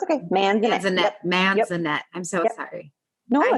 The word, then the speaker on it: Manzanet: i am introducing all of you to gladys manzat no i said your name wrong that's okay sorry no it's okay man that man is a net i'm so sorry no i haven't i haven't